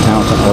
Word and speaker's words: Tao Tao: These little Tao Tao motorcycles, and that's how it's pronounced, Tao Tao, or Tao Tao as the Japanese say it.